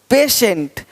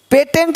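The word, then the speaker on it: patient: देखो पेशेंट, पेटेंट नहीं पेशेंट, पेटेंट पेशेंट, पेटेंट पेशेंट, तो श पेशेंट।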